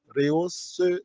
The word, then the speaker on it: rehausse: Rehausse donc toutes les œuvres. Donc, rehausse, il y a un petit point sous le E pour prononcer rehausse.